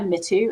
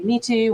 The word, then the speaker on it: Mitu: No, so I am not too precious about the pronunciations of my name, because I usually go by Mitu as well. Rather, I would say like 50% of people say Mitu or Mitu.